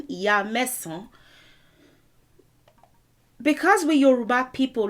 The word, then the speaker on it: Ìyaàsán: Ìyaàsán is how you say it now. The contraction of that is Iyansan.